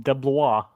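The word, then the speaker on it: DeBlois: I think it's close the Wikipedia article literally listing it's like deah deah that's what Wikipedia says yep that's the pronunciation deah okay like B it's PR it's D E B l o i s DEA okay I swear to God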